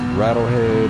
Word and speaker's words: ratlhed: always switch over to my twitch it is rattle head just like it's pronounced the same but it's spelled different it's